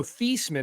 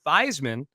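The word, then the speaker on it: Theismann: his name was Joe theeman not Joe thyman but Roger Valeri the Sid at Notre Dame back in the early 70s said no let's change the pronunciation to thyman because it rhymes with Heisman and that'll help your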